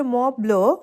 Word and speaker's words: Mont Blanc: আর হ্যাঁ, জায়গাটার নাম হচ্ছে মনব্লো। আমি মনব্লো বলি কেন জানি মুখে চলে আসে, যেহেতু এ দেশের মানুষের স্পেলিং একটা আর প্রোনাউন্সিয়েশন আরেকটা, সেটাই প্রবলেম।